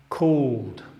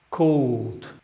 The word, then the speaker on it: called: Called. Called. En esta ocasión el ed está pronunciado como d. Called.